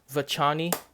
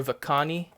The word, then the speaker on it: vachoni: This is my Euscorpiops vachoni or vachoni, depending on whether you want to pronounce the H silently or not.